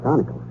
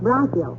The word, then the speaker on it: bronchial: The word is bronchial, dearie, and it's pronounced bronchial.